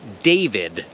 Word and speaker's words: David: you will remember that the i is not pronounced e so there were two